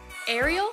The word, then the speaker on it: Ariel: up we have Ariel do you guys pronounce it Ariel or Arielle I've heard it both ways but I mostly go with Ariel I styled her with